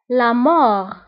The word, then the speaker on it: la mort: La mort. La mort. بالنسبة لا مور نكتبها بالت في آخر الكلمة ولكن لا ننطقها. نقول لا مور.